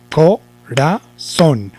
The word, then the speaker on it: corazón: Otra vez, corazón. Ahora, ¿dónde lleva el acento? Si lo llevara en co, diríamos, me duele el corazón.